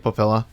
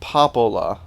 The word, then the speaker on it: Popola: It's alright, Papilla. Right? Papilla? What? Why are you... What is it? Why do you pronounce them so dumb? I don't fucking know! Devola. Devola? Popola. Popola. Not Devola and Papilla.